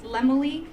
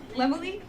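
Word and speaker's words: Laemmle: Is Lemale. I was Lemly.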